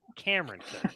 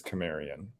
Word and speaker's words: Camarian: Cameron Cook. Come on now. Get the name right. I think I would know how to pronounce my 14th cousin's name, and it's Camarian.